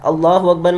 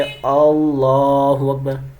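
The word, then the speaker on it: الله أكبر: बहुत सारे लोग इसे अलहु अकबर यानी हमजा को खींच देते हैं शुरू में।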